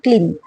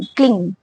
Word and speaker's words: क्लीं: क्लिंग कामे नमः इसमें मैं बोल रही हूं क्लिंग या फिर क्लिन क्लीन नहीं क्लिन नहीं क्लिंग क्म ठीक है क्योंकि बहुत सारे लोग ऐसे बोलते है कि क्लीन क्लीन ऐसे नहीं क् ऐसे उच्चारण का भी एक तरीका होता है और चलिए आपको बता